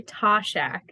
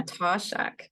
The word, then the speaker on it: Toshack: proper pronunciation yeah so my name is toshak uh tashak yes okay that sounds way better that's okay it's okay